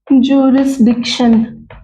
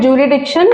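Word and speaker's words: jurisdiction: Many people call it जुरिडिक्शन। आई am calling like this. अगर आप जरिसडिक्शन बोलते हैं इतना क्लियर जरिस नहीं बोलेंगे हम बट हम जुरिसडिक्शन अगर बोलते हैं तो हमें स्पेलिंग भी इसकी याद रहती है।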